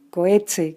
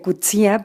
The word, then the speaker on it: Coetzee: entrevista que es john coetzee que decíamos que se pronuncia de cuchía pero se llama lo conocemos aquí como john coetzee y que creo que